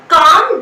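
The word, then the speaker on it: calm: चलिए, अगर मैंने बोला चलिए आप शांत हो जाइए, that is कॉल्ड काम down. यहाँ पर एल जो है वो साइलेंट है ना।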